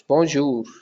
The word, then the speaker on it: bonjour: It's if you split that into two words, that it's bon and not bon because you're not pronouncing the N. It's bon and jour. It's bonjour.